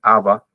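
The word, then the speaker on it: אבא: padres AB, en realidad la pronunciación es aba y madre.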